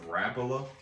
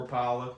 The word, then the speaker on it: Rapala: Yeah, and this is something we've both been buying quite a bit of Rapala lately, or Rapala, depends on how you say it. Both ways are right.